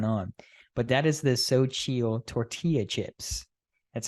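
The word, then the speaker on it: Xochitl: what was going on but that is this so chill tortilla chips that's how you pronounce it um literally these chips are amazing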